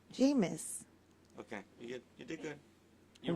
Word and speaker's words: Jameis: Jamin Winston, yeah. My son. How do you say his name again? Winston. His first name? Jameis.